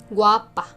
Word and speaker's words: guapa: Guapa, guapo. Notice the accent in the second syllables.